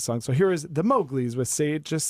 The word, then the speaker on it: Mowgli's: check in with those so how do you pronounce the band name again mouth the Mowgli's Mowgli's yes all right cool I'm gonna hear them